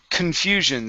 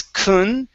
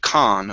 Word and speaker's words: confusion: go to the word confusion so let's see this o o n here we want to pronounce as kun instead of khan okay so it's kun confusion confusion there you go okay